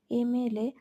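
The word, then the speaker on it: MLA: Same ভাবে দেখো এমএলএ নিচের দিকে রয়েছে, এমএলএ। তো এমএলএ এম উচ্চারণ করছি, ময়ের মতো উচ্চারণ করছি না, বলছি এম, তাহলে এ হচ্ছে ভাওয়েল সাউন্ডের মতো শোনাচ্ছে, তাই তার আগে অ্যান বসেছে। সেম ভাবে দেখো নিচে এলএলবি,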